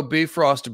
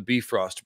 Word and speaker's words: Bifrost: Fire version of the Bifrost Bridge. And that's how you say it, by the way. Bifrost, not Bifrost. Bifrost. And Bifrost, it should be, I guess, in a little Icelandic accent.